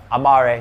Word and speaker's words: Amaré: where we're at and how do we pronounce it Amari Amari Amari vodka okay in the UK people are trying to say and that's a UK thing so it's Latin so it's Amari Amar so which means to love in Latin